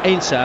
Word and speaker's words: Heinze: of defence keane ainsler unless you're wondering about uh the pronunciation of his name it was the subject of considerable debate uh before the game as to precisely what he should be known as obviously a german extraction heinzer would be his name but in argentina they call him ainsa and they don't really pronounce the h and that's straight from